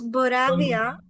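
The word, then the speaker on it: Boerhavia: any answer there is shvi one is bi I'm struggling to pronounce them myself yeah I I'll just uh it's boravia boravia one is gongura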